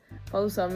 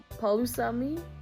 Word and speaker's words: palusami: P in Samoan is also pronounced P, but I also feel like this one is a softer P sound, making almost a B sound. For an example, let's use the word palusami. Palusami is a Samoan dish, so you can say palusami or palusami. I feel like there's just that slight B sound to it that really sets you apart.